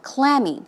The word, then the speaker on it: clammy: basically is an adjective as you say the stress goes on the first syllable clammy it's cold and Dan